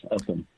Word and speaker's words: Upham: We're with Charles Upham. Am I pronouncing that right? Upham? Yes, Upham.